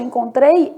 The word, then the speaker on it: encontrei: E no caso de encontrei, esse N é nulo.